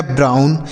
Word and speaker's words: brown: BROWN, तो BR से लिखेंगे ब्रो, और देखिए OW के बाद यन है तो इसका उच्चारण आउ, N से न, यह लिखा गया ब्राउन, BROWN ब्राउन। CROWN, तो CR से लिखेंगे क्रो, क्या लिखेंगे?